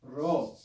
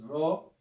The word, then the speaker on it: rho: the lowercase rho and it makes the sound of the classical trilled like a spanish if you can't make the trill sound it's no big deal pronounce it like an english r ra the letter r the